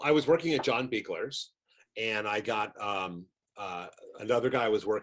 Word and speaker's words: Buechler: I'm hoping I'm pronouncing that right. Buechler, yes.